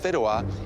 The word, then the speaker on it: fideuà: And the dish you'll be making is Fideuà.